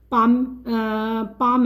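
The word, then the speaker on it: palm: इसके अलावा पाम है, ये एल साइलेंट है।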